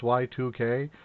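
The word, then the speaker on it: YIIK: Then I started playing Y2K, a postmodern RPG, and it's spelled Y-I-I-K, like a Roman numeral 2. And you know, if the game actually, the first thing the game says is this is pronounced Y2K, that's, I don't know, bad marketing.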